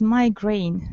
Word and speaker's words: migraine: hear the word migraine with you so the pronunciation is migraine so uh please take into account remember the